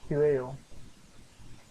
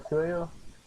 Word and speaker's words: cuello: El cuello is neck. And then, so El Q. So this will break down like Q. E. Yo. Because the double L is more like a ya when you pronounce it like ye.